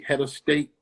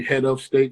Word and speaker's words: Hedastate: mac a-u-d-i-o-m-a-c-k and uh my name is spelled h-e-d-a-s-t-a-t-e head of state you know what i'm saying it should be head of state but you know how we talk yeah word the flip